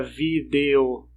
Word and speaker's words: vídeo: Ninguém fala vídeo, não pronuncia esse E. Você acaba colocando um I no lugar, fica vídeo.